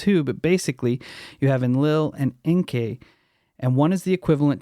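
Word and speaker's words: Enlil: hearing it wrong and should be pronouncing it en Lil en Lil was the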